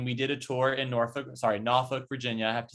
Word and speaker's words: Norfolk: But there's a small subsect of the population native to Norfolk who would say it's Norfolk. But the right way to say it is Norfolk.